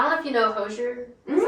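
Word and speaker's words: Hozier: doodling, and I don't know if you know Hosier. Is that how you say it? Hosier? I think Hosier is what I've heard, but The more pretentiously you say it, the better. There you go. Hosier.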